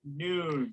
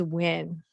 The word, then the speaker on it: Nguyen: Noon. Noon. Win. Win. New win. Or Nguyen? Okay, so the answer is win.